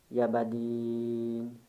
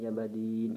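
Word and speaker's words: Yā Badīʿ: ini sebelah Hirohman Nirohim ya Badin Subhanallah India buddy9 Rohman Rohim Ya Badin gitu ya bacanya cuman Bismillahirrohmanirrohim ya Badin harus agak panjang belakangnya ya harus mendengung karena dengungan tersebut berefek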